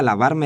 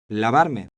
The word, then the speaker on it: lavarme: The R in Lavarme. is a strong, trilled R.